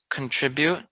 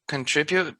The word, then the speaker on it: contribute: Also, for number 5, contribute is pronounced two different ways. I pronounce it contribute, other people pronounce it contribute.